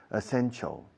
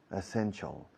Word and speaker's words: essential: Decía essential. Essential. Hasta que le dije, ¿cómo se dice chal? Llevar un chal. Es un chal. Essential.